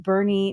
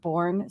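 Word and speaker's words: Boerne: Fernandez has said that it is pronounced Bernie not borne so it is Bernie Texas so very cool thank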